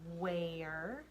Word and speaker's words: where: this word this is where remember the ER e sounds like a spell it with me